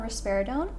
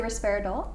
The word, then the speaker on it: risperidone: How do you say it? Risperidone, or you can say risperidol. Risperidol, risperidone. Risperidone. Don't, but with an N.